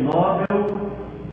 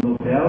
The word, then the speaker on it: Nobel: alto Escalão da ciência prêmio nóbel ou Nobel como você quiser pronunciaria achar tudo